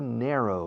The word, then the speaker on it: narrow: It's not a narrow river. Narro escrito, pronunciado, ner, como hair, narrow, como flecha. Arrow, con N delante, narrow.